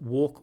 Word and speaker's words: walk: So these minimal pairs, two words that sound the same except for one sound. So walk, work, walk, work.